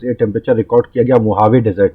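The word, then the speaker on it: Mojave: Temperature record किया गया मोहावे desert में। ये जो जे है इसको एच प्रोनाउंस किया जाता है स्पेनिश भाषा में, तो अमेरिका की कैलिफोर्निया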